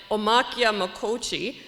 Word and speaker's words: Omaniciye Makoca: very much everyone um nice try on the pronunciation it's a difficult it's a difficult one um so our project kista pananic omakia mokochi the gathering place so kista penanic is the